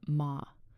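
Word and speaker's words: 間: In Japanese aesthetics, there's a concept called ma. Pronounced ma.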